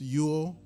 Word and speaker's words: Ule: as you could see uh it's pronounced Ule but it looks like.